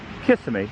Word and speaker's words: Kissimmee: orlando it's technically kissimmee some pronounce it kissamy but i call it kissimmee and i also ended